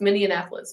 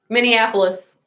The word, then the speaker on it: Minneapolis: many Annapolis Minnesota I can never actually never pronounce mini Annapolis it's just week and those are kind of just the ones that we have so huh Minneapolis that's right and so those are kind of